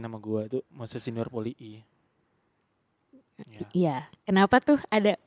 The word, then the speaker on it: Polii: Bukan bacanya harus poli I gitu ya. poli I. Jadi besok teman-teman kalau ada yang ketemu sama Moses manggil Moses Junior poli I gitu. Ah, poli I. Biar I-nya ketekan.